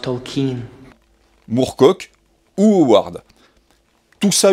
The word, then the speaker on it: Tolkien: Également, il intègre des suggestions de scénarios pour rejouer des batailles issues des livres de Tolkien, It's pronounced Tolkien.